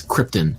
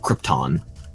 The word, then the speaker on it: Krypton: his home planet right it's Krypton not Krypton it's like this is not an element that's an alien planet yeah yeah like that's